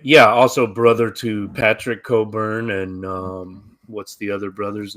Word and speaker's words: Cockburn: It's pronounced Cockburn, but yes, but it's spelled Cockburn. Like, okay. Yeah, like the burn on your cock. I was just confused yesterday. Yeah, it's Cockburn.